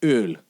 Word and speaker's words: Öl: It's like how the German word for oil is, and I actually have to make an effort to pronounce that word correctly instead of saying oil. But it's spelled umlaut O, L. 2 letters, umlaut O and L, and it's Öl, right?